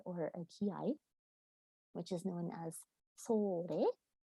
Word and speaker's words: ki-ai: I have an example here of a kakegoe or a ki-ai, which is known as sore, and sore means ready, let's go.